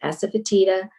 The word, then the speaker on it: asafoetida: If you're eating legumes, asafoetida, some people pronounce it asafoetida, it helps digest legumes, but also cruciferous vegetables, as I was mentioning, like broccoli and cauliflower and Brussels sprouts.